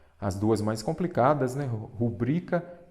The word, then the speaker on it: rubrica: Muita gente fala rúbrica. Quando a maneira correta de escrever é rubrica. Então, rúbrica não tem acento, é rubrica. Ela é uma paroxítona, porque a sílaba forte é o bri.